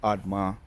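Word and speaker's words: Admah: Let's go in and I remember the pronunciations of the Zebo, Admar, and Zo Zohoim. Zeboim, Admma, and Zohar.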